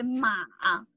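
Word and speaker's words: 马: Ma means mother, right? And if we say in the third tone, we say ma, which is horse.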